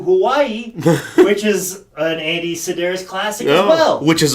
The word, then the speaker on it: Sidaris: And I believe Sidaris is how it's said. And I think that's how I've heard it being said before.